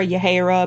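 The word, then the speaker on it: Yahaira: girls camino and Yahara I'm gonna call her your Hara because phonetically it's an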